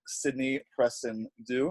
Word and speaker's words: Sydney Presendieu: So, guys, today I'm here with fellow member of the Women in Film Project, Sydney Presendieu. Is that how you pronounce it?